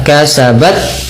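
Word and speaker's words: كسبت: Nah, cara membacanya adalah dengan yang pertama dengan menahan suara ya, kasabat, baru kasih kasih hamzah, tapi tidak jeda ya. Laha ma kasabat walakum, nah seperti itu.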